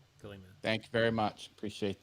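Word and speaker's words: Ghiliman: How do you pronounce his name? Gillyman. G-H-I-L-I. Gillyman.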